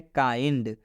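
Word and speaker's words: kind: उच्चारण क्या होगा, तो इस आई का उच्चारण आई से होगा। क्लियर? आइए अब हम आपको एग्जाम्पल के माध्यम से समझाते हैं। एग्जाम्पल में लिखा गया है काइंड।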